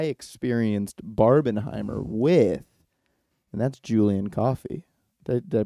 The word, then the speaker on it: Julien Coffey: And there's no one better to do that with than the person who I experienced Barbenheimer with, and that's Julien Coffey. Did I pronounce that right?